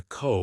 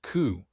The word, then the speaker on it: co: Codependent, says the owl god, pronouncing the co like she would do if hooting. Co, not coup, corrects Heinne.